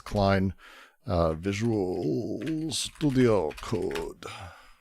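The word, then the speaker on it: Cline: Um it's a it's not Melanie Klein pronounced. It's Klein uh Visuals Studio Code.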